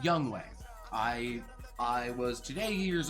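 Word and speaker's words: Younghoe: and yes it's pronounced young way i i was today years old when i learned that it's actually pronounced young way not young so hey we all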